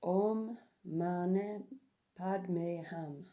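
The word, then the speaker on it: Om Mani Padme Hum: palm of your hand say the following praise pronounce the Mantra like om Mane Padme ham um I call upon the wild Grace intervention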